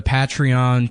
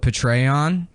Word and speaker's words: Patreon: Yeah, we've got the the Patreon p I said I used to call it Petraon like General Petray. Suck it and That's how I thought you pronounced it and then somebody laughed